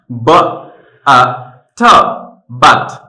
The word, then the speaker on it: but: ব আ ঠ বাট, ব আ ঠ বাট। আর যদি আমরা লেটারস দিয়ে বানান করে তারপরে যদি উচ্চারণও করতে চাই তাহলে কিন্তু হবে বুট।